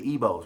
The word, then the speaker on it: Igbo: Even with the Igbos, right? The G is silent.